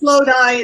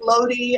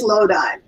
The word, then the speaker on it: Lodi: It is Lodi. It is not pronounced Lodi, as some people I've heard pronounce it. It is Lodi.